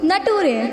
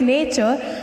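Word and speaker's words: nature: यू आर ई हम टूरे ओह नो इट्स नॉट टूरे इट्स नेचर now call me इन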